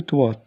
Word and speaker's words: toit: Sur le toit, T, on ne prononce pas T.